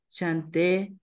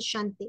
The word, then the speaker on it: chante: Y plus en un cuestión de Dieu et chanté tu mot. Ton nom chante. ¿Por qué la E no va a tildar? Entonces no va a ser chante, sino chant.